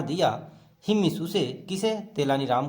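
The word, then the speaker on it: तेनाली राम: तेलानी रामन लिखा है, लेकिन हम पढ़ेंगे तेलानी राम, प्रोनाउंसिएशन यही बेटर होगा।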